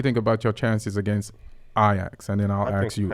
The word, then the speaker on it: Ajax: Well, first of all, is it Ajax or Ajax? Ajax. Okay, I just want to make sure I'm pronouncing it correctly.